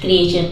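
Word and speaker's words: creature: था क्रिएचर मतलब प्राणी टी के बाद अगर यू रहे हमेशा वो टी का प्रोनंसिएशन च हो जाता है मतलब टी को च पढ़ते हैं ठीक है तो ये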